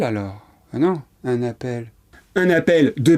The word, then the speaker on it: appel: Cette règle vaut pour le verbe appeler et rappeler, qu'on utilise très souvent à la forme pronominale.